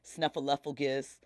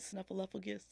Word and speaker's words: Snuffleupagus: There's only 4 people that run their social media account, but they immediately had Bert, Ernie, Snuffleupagus. Is that how you say it? Snuffleupagus?